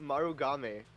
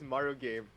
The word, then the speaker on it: Marugame: it's pronounced in Japanese it's pronounced marugame but in English it looks like it just says Mario game Mario game that sounds